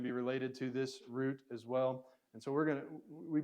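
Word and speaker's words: rho: Now, I am not very good at rolling my R's. If you are, go to town on this one. You can roll your R's. The Greeks will roll their R's, but you can either just say Ra or Ra, or you can say Ra.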